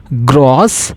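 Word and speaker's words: groß: Example, GRO, beta symbol, which we pronounce it as gross, which means tall or big.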